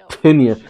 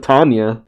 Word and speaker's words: Tinya: I didn't know that's how you pronounced it. Tinya was a phantom girl. I always said it was, I thought it was just Tanya.